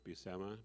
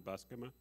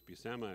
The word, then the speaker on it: Buscema: been calling him john buscema and when i thought found out it was busama it was like oh it's pronounced like my name and i didn't even